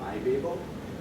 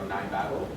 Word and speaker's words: Nibabel: And the package we use in Python is a package called Nibabel, or Nibabel, depending on who pronounces it.